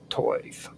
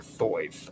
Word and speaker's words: Thoth: Now, Tuathis is Toith or Thoith or Thoth. I call him Thoth, but there's different ways that you can say it: Tuathis or Tuatis. You can pronounce it any way you want.